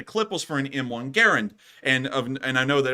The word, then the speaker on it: Garand: and it's actually supposed to be pronounced Garand but anyways moving on from that it's not a clip that feeds a M1 Garen it's an in Block